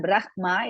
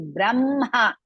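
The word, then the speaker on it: ब्रह्म: In the beginning, slowly, if you will not make this, it's not Brahma, it is Brahma. First pronounce ma, then ha.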